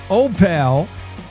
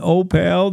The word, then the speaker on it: Opal: do you pronounce Opal? Uh tell me how you pronounce it. I've been told that you pronounce it O like the letter O and then pale like he's a pale of mine.